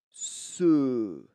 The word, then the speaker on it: ce: Alors, en français, nous avons donc un adjectif démonstratif au masculin qui se prononce ce. Ce. C'est bien un e.